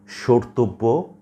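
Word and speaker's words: স্মর্তব্য: মনে রাখতে হবে যে শব্দের বা পদের প্রথম ব্যঞ্জন বর্ণের সাথে যদি মফলা যুক্ত থাকে তাহলে সাধারণত তার কোনো উচ্চারণ হবে না, তবে মফলা যুক্ত ধ্বনিটির সামান্য নাসিক্য প্রভাবিত উচ্চারণ হবে, অর্থাৎ খানিকটা নাকি স্বরে উচ্চারণ করতে হবে।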